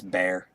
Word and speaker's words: BEAR: work out for you uh beer it's bear is it yeah it says be air bmx but that's how you pronounce it that's funny glove sponsors